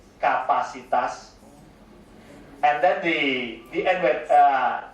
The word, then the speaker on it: kapasitas: And then capacity will pronounce as kapasitas.